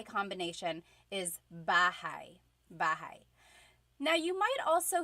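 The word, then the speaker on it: bahay: Bahai.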